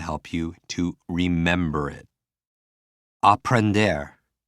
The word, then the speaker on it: aprender: Aprender. For me, sounds like a blender, which means to learn.